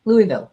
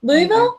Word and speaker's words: Louisville: do you say it Louisville Louisville yeah oh so it's like Illinois yeah yeah uh yeah